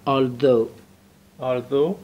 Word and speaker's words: although: Although my neighbor، کلمه اول تلفظش چیه؟ Although. بله این TH صدای ذ میده. صدای چی میده؟ ذ. نوک زبان بین دندون صدای ذ رو میگه.